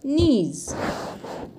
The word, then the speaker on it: knees: the sentence given above notice the sound of the letters k n in the word knees in some words when